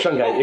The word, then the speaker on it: Shungite: Any form of Shungite, exactly, yeah.